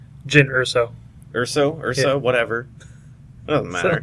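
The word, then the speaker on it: Jyn Erso: Mispronounced the name at first, but that's okay. Isn't it Jin? Jin Urso.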